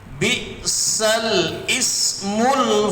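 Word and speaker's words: بئس الاسم: Bi'salismul, bukan bi'sal ismul fusuqu.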